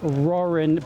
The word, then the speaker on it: Ruhren: My last name is Rorin, but I've stopped using it in videos cuz I have trouble pronouncing it.